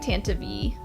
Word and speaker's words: Tantive: I like Tantive. Like when that came out to be how it's pronounced, I was like, oh, I kind of like that better.